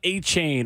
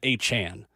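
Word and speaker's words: Achane: Devon A-Chain, or I should say his name is now Devon A-Chan. He's asked for it to be changed.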